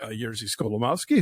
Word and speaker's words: Jerzy Skolimowski: time, and all the honorees showed up, including Jerzy Skolimowski, who you presented with.